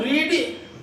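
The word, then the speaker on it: read: और रीड की third form रीड। रीड लिखते हैं मगर पढ़ा क्या जाता है इसको? रेड। ध्यान रखिएगा, पढ़ते रेड है पर स्पेलिंग वही होती है।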